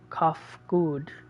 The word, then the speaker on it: Kafkud: As for the nomenclature to address my individual person, I believe it would be pronounced Kafkud.